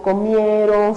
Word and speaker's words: comieron: En este caso, por ejemplo, los verbos que terminan en on, como comieron, fueron, vinieron, escuchen el sonido, no se encuentra ubicado en la última sílaba, no es comieron o vinieron o fueron, es comieron, ¿no?